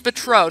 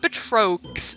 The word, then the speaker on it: Betrox: It's Betro, not Betrox. Not Betreaux. It's Betro, it's French, okay? The X is not pronounced because French.